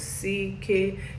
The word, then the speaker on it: CKay: His name is CK, pronounced as CK, C with the eyes, and K, as in it's okay, CK, like it's guy.